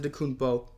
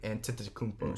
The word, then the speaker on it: Antetokounmpo: brown kevin durant jonathan de kunpo joel embiid hardin middleton bam ben simmons zach levine kyrie irving sabonis i think you missed the syllable and antetokounmpo shut up go to